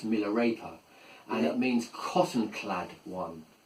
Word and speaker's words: Milarepa: Um in incidentally, Miller the name well it's actually pronounced in Tibet. It's a Tibetan name. It's actually pronounced Miller raper and it means cottonclad one or one who is clad in cotton.